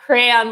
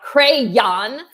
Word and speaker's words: crayon: the videos and then the videos they say crap crayon with two syllables not not the way the mom was saying it with a lot of emphasis on the last syllable not crayon but so they do teach